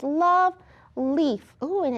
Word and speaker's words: Leif: Leaf is spelled a little differently because that's the name of the character.